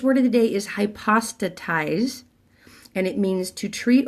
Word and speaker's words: hypostatize: it totally wrong and they pronounced it wrong they said high pasta sighs it's high pasta ties now hypothesize might mean something